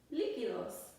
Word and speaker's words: Líquidos: The word liquid in Spanish is spelled like this. L-I-Q-U-I-D-O-S. Líquidos.